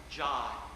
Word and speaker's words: joy: And remember that in Elizabethan pronunciation, the word joy, J-O-Y, was pronounced jai.